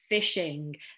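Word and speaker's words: phishing: hacking known as a fishing so you can see it sounds like the fishing that you do but it's spelt differently but it does have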